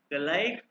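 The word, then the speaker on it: gleich: ठीक है, तो इसको कई लोग ग्लाइक भी कहते हैं, क्योंकि मैंने सीखा है ना ग्लाइक, ज्यादातर इसको ग्लाइश कहते हैं, कम लोग इसको ग्लाइक कहते हैं, दोनों ठीक है।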